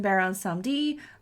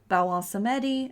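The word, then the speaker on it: Baron Samedi: It can also be pronounced Baron Sanmdi, Bawon Sanmdi, and Bawon Sanmdi. Well, one of those was Baron Samdi?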